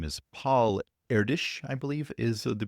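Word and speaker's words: Erdős: His name is Paul Erdish, I believe is the pronunciation, and basically has a collection of open math problems referred to as the Erdish problems.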